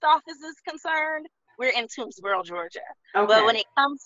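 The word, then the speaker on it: Toomsboro: being on that land um it is in toonsboro is how you pronounce it yeah so i know that you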